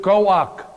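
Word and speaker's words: כוח: That word power that is used here is the word koach. I didn't write the Hebrew down here, but in English we spell it K-O-A-K-H. Koach.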